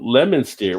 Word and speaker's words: Leominster: I always pronounce it Worcestershire. Worcestershire? But I know I'm probably not saying it right. There's no Lemonster.